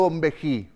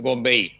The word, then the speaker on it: Bonvehi: ¿Bombeí o Bombejí, para pronunciarlo bien? Es Bombeí.